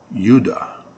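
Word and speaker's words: יהודה: a land of Judah because it's not a J in Hebrew that's a European Corruption of the phonetics it's Yuda doesn't it sound an awful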